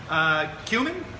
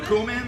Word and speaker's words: cumin: ready to go okay cumin or cumin or however you want to pronounce it I pronounce a cumin all right yep lime